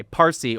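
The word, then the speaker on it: فارسی: Parsy or as it later was Farsy because the Arabs could not pronounce the P so it became Farsy.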